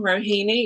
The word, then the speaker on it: Rohini: So I am Rohini. It's probably the only name that you're going to hear that rhymes with bikini.